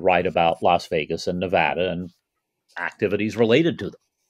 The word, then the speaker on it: Nevada: properly but he's right Nevada is the Spanish pronunciation and because of the